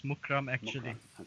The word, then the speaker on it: Mukhram: Is it how do you pronounce the name, Keith? It's the surname. It's Mukhram. It's Mukhram actually.